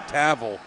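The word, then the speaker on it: Tawil: It's spelled T-A-W-I-L. Well, I've just been told it's Harry Tavel.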